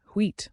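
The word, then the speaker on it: huit: Number 8, wheat, might trick you a bit. Pronounce it like wheat.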